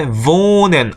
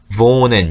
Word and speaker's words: wohnen: 그 다음에 wohnen, 우리 이건 배웠죠. wohnen 언제 배웠냐면 처음에 그러니까 여기 모음하고 그 다음에 하가 바로 나오면 앞에 있는 모음을 길게 발음합니다 라고 하는 부분에서 장모음, 단모음